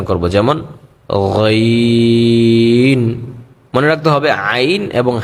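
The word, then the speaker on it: ع: নরম করে বলতে হবে আইন আইন আইন উচ্চারণ ক্ষেত্রে আমাদের গলা একটু চাপ দিয়ে পড়তে হবে কন্ঠতে তাহলে কিন্তু আইনের উচ্চারণটা সুন্দর হবে এবং নরম আওয়াজে পড়তে হবে। যেমন আইন গলায় একটু প্রেশার দিয়ে পড়তে হবে বেশি না আবার এত কমও না।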